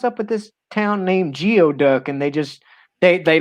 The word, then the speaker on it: Geoduck: with this town named geoduck and they just they they they just laughed and said it's pronounced gooey duck and i'm like how in the hell is g-e-o pronounced gooey but anyway right hey